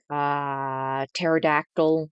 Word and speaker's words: pterodactyl: Um, Pterodactyl, which is spelled with a P.